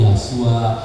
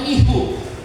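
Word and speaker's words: Yeshua: orang-orang seperti saudara yang kenal lafalnya yang benar itu yasua saudara akan datang ke bangsa-bangsa ini dan katakan mereka Oh begitu ya Jadi bukan seperti kami kami biasanya melafalnya isu ada yang melafalnya ihu kami biasa melafalnya ihu katanya Oh jadi yasua harusnya Git ya Jadi ini ini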